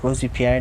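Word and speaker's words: Robespierre: led to a lot of care or he robesy pair right Rosie Pierre that's how you pronounce it yeah needed stability so he rolled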